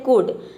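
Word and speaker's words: could: example देख लेते हैं देखिए कुड कुड में देख सकते हैं एल के बाद डी आया है इसलिए यहां पे एल साइलेंट है यहां पे केवल एल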